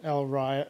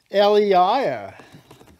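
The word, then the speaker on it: Elyria: someone actually lives in el rya no it's not all right it's elia there's the word elia ohio apparently in ohio the r is silent so i apologize for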